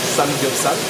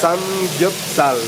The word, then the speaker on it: Samgyeopsal: Samgyeopsal, voilà, c'est ça, c'est ma prononciation à peu près correcte.